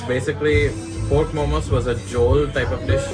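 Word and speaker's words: jhol: chocolate so it's basically pork momos was a joel type of dish it's spelled j-h-o-l it's that it's kind of a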